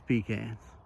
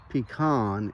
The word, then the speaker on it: pecan: for Southeast Virginia the topic for today is pecans first thing we need to clarify is how to pronounce this as you can see on the map majority of the country incorrectly says pecan or worse yet pecan in upper Midwest East Texas and the Mississippi